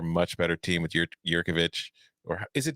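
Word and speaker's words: Jurkovec: with that and stop getting the name off pronounced in my whole life so jerkovic i'm still taking florida state this week because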